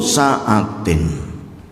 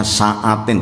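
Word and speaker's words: سعة: Dzu sa'atin, orang yang diberikan lapang rizki. Bacanya sa'atin, tidak sa'atin, beda jauh. Kalau sa'ah itu malah maknanya jam, apalagi jam dinding.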